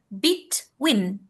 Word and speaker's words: between: Nah, ini jangan dibaca between ya. Ini dibacanya bitwin. Bitw ya.